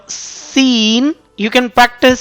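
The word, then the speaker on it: س: practice this letter according to the point of pronunciation of this letter Seen. How you can read, how you can sound like Seen without nasal sound.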